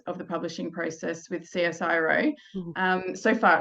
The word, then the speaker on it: CSIRO: So is it Cisco Publishing? Is that how you say it? Or CSIRO, yeah, okay, publishing.